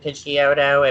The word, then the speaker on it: Pidgeot: kid G of opposite Pidgeotto and pitchy odo evolved into what now he Pidgeot thank you thank you that's the correct saying it I know somebody who still says pigeon ty you've met that person